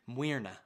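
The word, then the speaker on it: Muirne: And again, the Irish pronunciation, Muirna was her name.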